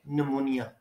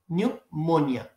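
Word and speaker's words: pneumonia: से होती है और हम इसको कहते हैं निमोनिया हम कहते हैं ये निमोनिया है न मनिया अब अगर न मनिया है तो यहां हम यू लगाते हैं तो हम कहते यहां भी यू होना चाहिए तो ये हमारी मिस्टेक और मिस्टेक क्यों होती है क्योंकि इस वर्ड को स्पेल करना एक तो डिफिकल्ट है और दूसरा जो है वो लेटर्स को मिक्स कर देते हैं तो ये न्यूमोनिया इसको आप पढ़ेंगे न्यूमोनिया इसको मनिया नहीं पढ़ेंगे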